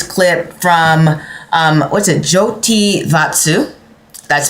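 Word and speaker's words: Jyotir Vastu: Joti Vatsu. That's spelled J Y O T I R V A S T U. So, Jotier Vatsu.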